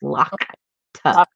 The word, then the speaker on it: Lakta: It's L-A-K, not L-A-T-A-K. It's Lakta. Lakta.